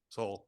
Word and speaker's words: Sowell: soul, yeah, How do you Thomas Sowell? That's how you say it? soul.